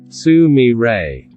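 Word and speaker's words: 純連: 3 Minami 11 Jo Nishi 11964 "Sumire" 1964 It is written as "junren" and pronounced as "sumire" Sumire opens The Godmother of Junren and Sumire Akiko Muranaka opened a ramen shop in Nakanoshima, Sapporo!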